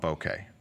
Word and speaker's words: bokeh: Something called critical aperture, sharpest picture, then wide open because I want bokeh, pronounced bokeh, not bokeh.